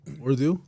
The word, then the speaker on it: Urdu: Urdu? Yeah. How do you pronounce that?